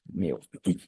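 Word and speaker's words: μ: is pronounced as new this is pronounced as me do not confuse your new with me your Dynamic yeah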